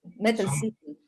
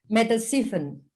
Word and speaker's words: Mettelsiefen: No sé si lo he pronunciado bien. Mettelsiefen. Mettelsiefen. Sí, he dicho bien. Mettelsiefen.